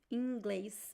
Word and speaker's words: inglês: Em inglês. So the word inglês is pronounced like in. The first the first I is very nasal.